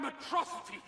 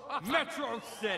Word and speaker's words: Metro City: this is a day you and matrocity shall not soon forget it's pronounced metro city oh potato tomato potato